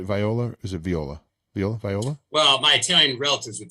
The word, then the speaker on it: Viola: is it viola viola viola well my italian relatives would tell you that the i is pronounced like an e in italy so it's viola but either way tony